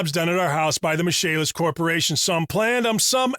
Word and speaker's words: Michaelis: Spelled M-I-C-H-A-E-L-I-S, pronounced Michaelis.